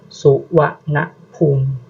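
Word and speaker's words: Suvarnabhumi: bisa salah pengucapan ya salah satu contohnya yaitu bandara suwana humum Tapi tulisan Latinnya itu yaitu Suwarna bumi tetapi itu tuh dibacanya su wa na Pum su wa na Pum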